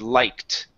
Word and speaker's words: liked: Okay, so instead of saying like, okay, this E right here, that is silent. We do not pronounce it. Okay, so the word instead of being like, the word is liked.